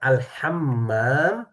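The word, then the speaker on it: الحمّام: Kalau tulisannya alhammam ada tasydid di sininya Bapak di atas mim itu berarti kamar mandi. Kalau alham tanpa tasydid bisa menjadi arti merpati. Jadi jangan sampai salah ee pelafalan.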